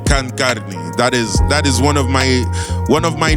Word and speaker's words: KhanKarni: KhanKarni, so you know the meaning, and it's pronounced KhanKarni.